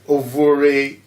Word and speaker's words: Ovuorie: Ovuorie, yeah.